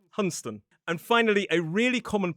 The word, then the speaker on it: Hunstanton: But we drop a few letters and instead of Hunstanton we say Hunston.